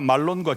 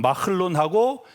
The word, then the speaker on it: 말론: 하나 말론과 기론인데 우리말로 그래 되는데 히브리 발음 마흘론하고 킬리온입니다.